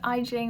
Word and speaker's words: Jing: And by the way, my name is Jing. That's pronounced like Beijing with an I.